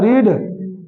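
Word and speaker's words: read: English क्या होता है रीड रीड रीड रीड spelling क्या होता है रीड होता है लेकिन पढ़ते हैं रेड ठीक है नेगेटिव स्ट्रक्चर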